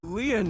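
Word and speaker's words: Lien: you really are an angel KY my name lean it's spelled l i e n in French lean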